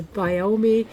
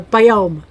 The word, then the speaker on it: biome: they're working on the biomi no wait someone told me how to say this on on YouTube is biomi no biome Rome doome biome see